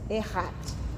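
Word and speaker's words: Echad: que significa Deus único se escreve e x a d só que o c e c h a D mas se lê com dois RS errat mas escreve Echat Tá mas assim nem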